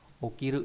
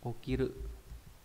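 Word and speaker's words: 起きる: bộ bộ kỷ này, ví dụ đây là chữ khởi là gì nhỉ? Okiru đúng không? Okiru. Thức dậy này hay là okosu.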